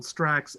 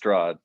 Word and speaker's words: Strahd: We also like to mention that we killed Strax and rescued Barovia. You killed who? I think it's pronounced Strahd.